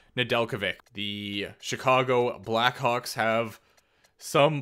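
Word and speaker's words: Nedeljkovic: name again recently and i think it's just nadelkovic i'm pretty sure that jay just isn't there it is but it's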